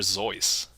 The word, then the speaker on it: Seuss: I believe the original pronunciation was actually Dr. Zeus.